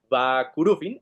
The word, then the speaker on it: Vah Curufin: Eso es para mí lo que era más fascinante en el cuento de Va Kurufin, que no se pronuncia el H, Va Kurufin.